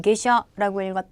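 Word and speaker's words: 下車: 아래 한자 의 원래 음독 은 " 카 " 입니다 . 하지만 " 하샤 " 를 읽을 때 는 " 카 " 가 아니라 " 무엇 " 일까 요 ? "ge" 라고 읽습니다 . 그럼 " 하샤 " 는 어떻게 발음 하나 요 ? " 게샤 ."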